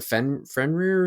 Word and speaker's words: Fenrir: One was I think it's pronounced Fenrir. It's like the wolf. Yeah, I mean, Fenrir's been in some of the Final Fantasy games.